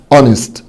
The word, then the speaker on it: honest: طبعا الاتش هنا حبايبي silent مش بتنطق، honest honest يعني امين او